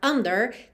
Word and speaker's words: under: under the cities, e normalmente a palavra under tem a sílaba tônica na primeira sílaba, então a gente teria under the cities. Mas ele mexe um pouquinho com o ritmo, então a gente tem under the cities. O der acabou ganhando aí um destaque maior do que ele